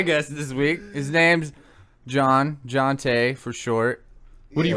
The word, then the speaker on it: Johnte: So they had my name, and then I guess like my parents like translated it to John? To John T. Okay. You know, like T would be pronounced like Tay.